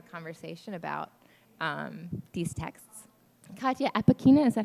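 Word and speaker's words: Katya Apekina: we'll have a conversation about um these texts Kya Aina is that how you pronounced your last name yes Aina uh is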